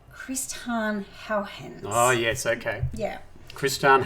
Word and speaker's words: Christiaan Huygens: I'm going to try and pronounce this right. You will. It's Christiaan Huygens.